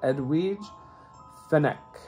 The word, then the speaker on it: Edwige Fenech: so they said that in Italian you would pronounce that edwidge the neck so she plays Jane